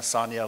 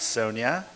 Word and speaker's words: Sonia: said, my name's Sonia, Sonia like lasagna, not Sonia. I never forgot that. So while other colleagues were calling her Sonia, I was thinking in the back of my mind, that's not how you pronounce her name.